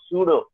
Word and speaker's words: pseudo: the dictionary meaning of pseudo here p is silent what Falls yes yes